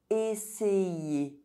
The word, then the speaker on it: essayer: When you see the letter Y between vowels, think about the letter Y as two eyes, as it is also going to affect the pronunciation of the vowel that precedes.